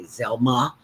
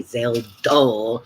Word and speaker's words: Zelda: McGee who always uh people couldn't pronounce my name when I first started in radio they would always say Zelma Zella so Richard used to say Zelda and Rich but he